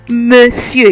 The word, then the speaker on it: Monsieur: Some of you have been saying Monsieur, Monsieur. I've been hearing so many things, but it's Monsieur. You remember how I taught you to pronounce the E? Monsieur. All right, I know it doesn't sound like it looks, but trust me on this.